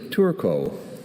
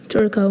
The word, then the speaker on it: turco: Your word is turco. Turco. May I please have the alternate pronunciations? There's just turco.